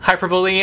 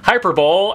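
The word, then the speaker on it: hyperbole: by Cinda Williams Chima hyperboy and a half by Alie brush and people used to make fun of me because I used to pronounce his hyperbowl and a half looking for Alaska by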